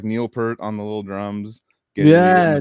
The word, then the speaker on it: Neil Peart: Is it Peart or Peart? It's Peart. But I say Neil Peart because it's easier. It's Peart. Yeah, for sure. Neil Peart. Yeah, and that's how you actually pronounce it.